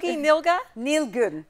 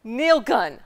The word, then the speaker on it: Nilgün: Did I say it right? Nilga? Nilgün. Yes.